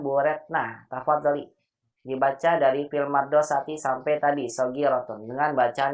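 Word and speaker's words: في المدرسة: fil madorisati Bukan madorisati, nggak ada madorisati. Apa? mudorisati Madrasati. fil madorisati Iya, daknya itu fusulun daknya kabirotun. sebentar Ibu, sebentar, pelan-pelan Ibu ya. Ya. Daknya disukunkan Ibu bacanya ya. Fil madrasati gitu.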